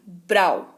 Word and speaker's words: brow: यहां पर आपको ओ जो है बहुत ज्यादा सुनाई नहीं दे रहा है, डब्ल्यू सुनाई दे रहा है ना। ब्रो, BROW, ब्राउ, इसको ब्राउ पढ़ते हैं, एक्चुअली इसकी स्पेलिंग जो है वो ब्राउ है, ठीक है।